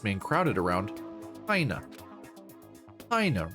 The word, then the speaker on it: Hina: Hina rhymes with vagina.